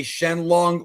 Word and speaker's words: Shenlong: It's actually not wrong. You can say Shenlong or Shenron. Either word works, bro.